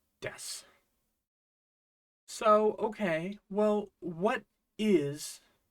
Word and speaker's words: です: our first grammar Point Sue becomes just an S sound in the case of death so okay well what